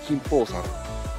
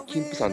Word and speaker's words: 金峰山: なんですけど長野長野県の呼び方は金峰山で山梨県の読み方は金峰山と 2 通りあるみたいですはいえーと車